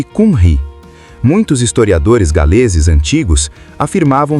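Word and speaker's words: Cymry: O nome para o povo galês em sua própria língua, é Kim Ri. Pronuncia-se Kunri.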